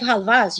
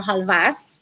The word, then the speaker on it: halva: there's different types of halvas, you guys. By the way, we can pronounce it halva or halvas with an S.